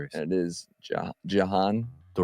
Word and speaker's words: Jhoan: And it is Jan. Duran. Duran. Just think of it as like it rhymes. That's what I keep saying in my head. It rhymes. It's not Duran.